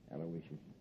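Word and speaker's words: Aloysius: I guess you deserve a break yeah you spell that middle name right it's a l o y s i u s aloicious sure how did I miss it aloicious uh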